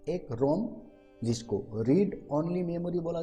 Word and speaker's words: RAM: है, और एक है रैम जिसको रैंडम एक्सेस मेमोरी बोला जाता है। भाई साहब इसको आप राम बोल के मत पढ़िएगा, हालांकि RAM इसका प्रोनाउंस हम लोग राम भी करते हैं, लेकिन कंप्यूटर के